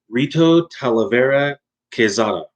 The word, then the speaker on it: Rito Talavera Quezada: or i guess uh if you want me to say more clearly in english rito talavera quezada that sounds horrible to me but that's how it would be pronounced by english speakers so if you want